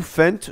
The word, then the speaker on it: Fendt: trop comment on dit, dites-moi si vous prononcez le T ou pas dans les commentaires. Moi, honnêtement, je dis Fendt. Ouais, je dis Fendt, ok. Parce que les gars, il y a un T à la fin, voilà.